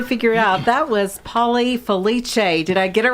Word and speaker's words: Felice: And as you can probably figure out, that was Paulie Felice.